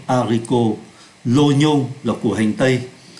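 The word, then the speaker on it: oignon: là của hành tây Đây là một trường hợp đặc biệt về phát âm ô v y là oa nhưng ở đây chúng ta phát âm là lô lô nhô không phát âm là oa l quo Là tỏi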